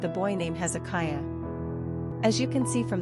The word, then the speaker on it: Hezekiah: Pronunciation, Hezekiah.